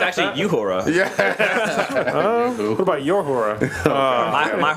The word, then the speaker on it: Uhura: It's actually Uhura.